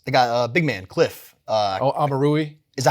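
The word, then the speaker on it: Omoruyi: Amarui. Is that how you pronounce it? Yep. Amarui, okay.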